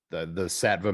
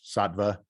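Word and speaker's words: Saatva: The Satva mattress, Satva, I've been saying it wrong the whole time.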